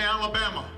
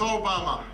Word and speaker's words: Obama: things they called me Alabama they called me your mama I had to explain no it's Obama you you were very